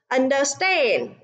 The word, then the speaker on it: understand: Language, conference, understand, message. À, vậy đáp án trong câu số 2 chính là câu C, vì understand. À, trọng âm rơi vào âm tiết thứ 3, còn 3 từ còn